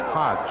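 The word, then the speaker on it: Hoge: Hodge spells his name H-O-G-E, but it's pronounced Hodge.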